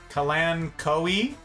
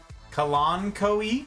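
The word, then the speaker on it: Kalanchoe: arrange that back we can repot one yeah kalancho yeah that that thing Rihanna Kalan Koi kalon Koi really thank you it must have that was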